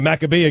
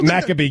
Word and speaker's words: Maccabi Games: want a broadcast the Maccabee a game is that how you pronounce it out Maccabi Games did you just pronounce that wrong Maccabi Games did you just pronounce that wrong in your religion Maccabi oh is that